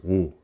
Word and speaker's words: ㅜ: This vowel is pronounced as woo, and it sounds like when you see something really cool and go ooh, but just shorter than that, so woo, woo, woo.